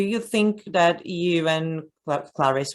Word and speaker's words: Clarice: You, I don't know, do you think that you and Clarice or Clarice, I'm still not sure how to pronounce her name. They say Clarice.